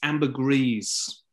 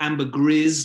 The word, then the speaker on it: ambergris: to stop you amber it's ambergris ambergris okay or or ambergris depending on where you are but you definitely pronounce that last s um you went with